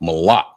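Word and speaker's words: מלח: So like I said the uh first word was salt and it's pronounced mala. Mala and it's spelled m a l a c h.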